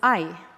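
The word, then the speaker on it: 愛: And the word for love in Japanese is ai, which is spelled AI.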